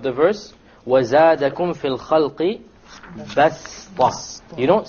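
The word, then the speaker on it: بسطة: Okay, so you don't pronounce it as a sad, you pronounce it as a seen, even though it is written as a sad.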